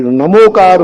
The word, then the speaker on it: णमोकार: वो उनकी परंपरा है हमारे दिगंबरों को तो मेरा यही आगाज है कि णमोकार मंत्र है नमोकार पढ़े णमोकार कार्यक्रम करें। बैनर पर करें। मंत्र को ही उच्चारण करें।